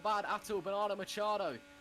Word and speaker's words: Bernardo Machado: Bernardo Machado, which is the correct pronunciation. Once again, I'm still telling you, that's how you pronounce it, because he told me that.